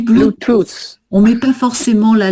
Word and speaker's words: Bluetooth: On dit Bluetooth.